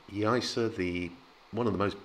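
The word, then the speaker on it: Yaiza: emphasize the point that the zed becomes that kind of soft s sound i'm not a hundred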